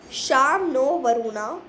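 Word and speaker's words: शं नो वरुणः: द एंबलम ऑफ the Indian navy contain the motto साम नो वरुणा pronounced श्याम नो वरुणा which means B auspicious to अस ओ वरुणा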